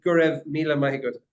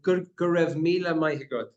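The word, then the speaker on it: Go raibh míle maith agat: So in Irish, we'd say Gurev Mila Mahigod.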